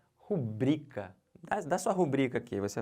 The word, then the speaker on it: rubrica: aí não não pode isso não é proparox isso é paroxítona é rubrica sempre tá bom olhem para